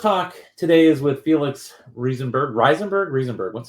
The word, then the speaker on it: Rieseberg: I lived in Germany for a while, and it would be Riesenberg, I think. It's a funny question. I've been in the Silicon Valley for like 13 years now, and I never really figured out how I really want people to pronounce it. Rieseberg works fine, but I'll take anything.